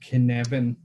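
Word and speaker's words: Cynefin: on the screen is something called kinevin which is written like this in evan which is a welsh a welsh word and so it's uh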